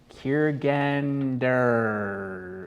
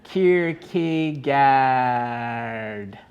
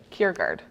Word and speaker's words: Kierkegaard: hope is passion for the possible oh soren kiergander i butchered that a danish philosopher soarin kierkegaard kierkegaard what is it cure guard soren kiergaard there we go a danish philosopher so i